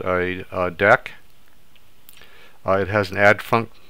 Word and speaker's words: deque: what a deck is it looks like DQ but it's actually pronounced deck so DAC also known